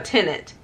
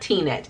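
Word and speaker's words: Tenet: multiple times especially with tina that t-net a tenant it's pronounced not t-net it's tenant i started watching the movie i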